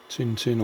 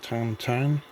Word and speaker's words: Tintin: Tintin Moon rocket um Tintin or tan tan depending on your pronunciation one of the comic